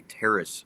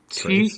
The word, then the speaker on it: teres: What is a teres strain? So it's pronounced Trace?